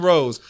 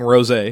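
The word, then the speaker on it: rosé: air B&B and sit along the scene drinking Rose I will my kid you'll skip the lover also it's the Seine and drinking Rose a okay thank you doesn't require a passport and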